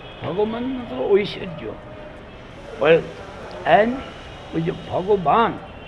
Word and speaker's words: Bhagavan: So Bhagavan, this word also is having two syllables in it, Bhag and Van.